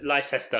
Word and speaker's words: Leicester: Also, Emily, your good wife, would like to make sure you pronounce it Leicester from now on. Correct. Okay, sorry. That's a good point. Leicester.